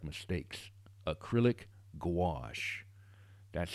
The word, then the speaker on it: gouache: particular will use that to correct mistakes acrylic gouache that's how you pronounce it all right back to the watercolor